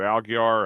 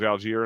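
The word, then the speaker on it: Allgeier: I mean Bejan, was it Algar? Algar, however you say his name. Algier. Alier. Alier.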